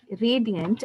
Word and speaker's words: radiant: It is spelled as Radiant, radiant, and there are no silent letters in this, but look at the stress. Okay, the initial R is stressed. It's radiant.